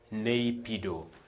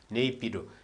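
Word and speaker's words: Naypyidaw: Napido. Napido. It depends how you pronounce it. It is N A Y P Y I D A W. That's how for me I pronounce it.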